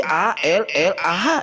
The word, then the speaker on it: Allah: lam lam ha, tetapi A-L-L-A-H, dibaca Allah. Bahkan orang Kristen lah yang paling jujur menggunakan bahasa Indonesia. Beda dengan saudara kita Islam. Ditulis A-L-L-A-H, dibaca Allah, pakai kata wo di sana.